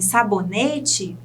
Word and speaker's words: sabonete: Em sabonete, o ne, penúltima sílaba.